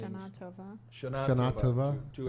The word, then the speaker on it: Shana Tova: the Shona Tove? How do you say the blessing? Shana Tova.